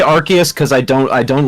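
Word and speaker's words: Arceus: yeah Aus is yeah Aus is a weird one pronounce some people put it archus is it archus AR I always say archus cuz I don't I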